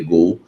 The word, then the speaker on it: Goal: do site Gol né se escreve goal mas é se L Gol site Gol deu a